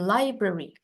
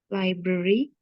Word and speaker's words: library: we were at the library coba Kak Val were at the library yestday ya library ya bukan library tapi library terus kalau misalnya ketemu tahun